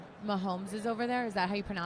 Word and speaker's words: Mahomes: You see how Mahomes is over there? Is that how you pronounce his last name? Patrick Mahomes.